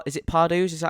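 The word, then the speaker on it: Pardoes: So you have P is it Parados? Is that how you say it? Pardau.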